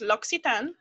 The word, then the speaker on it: L'Occitane: It's pronounced L'Occitane. And it's from Provence.